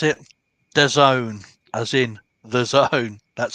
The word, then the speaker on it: DAZN: That's how you pronounce it. The Zone, as in the zone.